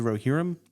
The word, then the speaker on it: Rohirrim: But anyways, this week we're going to be talking about Lord of the Rings, War of the Rohirrim. Yeah. Is that how it's pronounced?